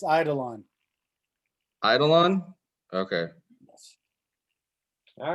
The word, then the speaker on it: Eidolon: I'm going to pronounce this wrong, because I pronounce everything wrong. Eidolon. It's Eidolon.